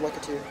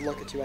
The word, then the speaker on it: Lakitu: keeps picking me hey Dylan his name is lucky too it's lucky too no it's look at you look at tongue it's lucky too no why